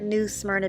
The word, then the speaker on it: New Smyrna: Smyrna Beach Florida uh I have heard New Smyrna Beach pronounced in a few different ways um but I'm going with New Smyrna um that's the one I've heard the most so we are off